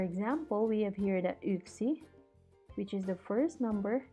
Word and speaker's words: yksi: So we have here yksi. You remember that the Y in Finnish is actually pronounced as Ö, as in the German Ö. So this one will be yksi.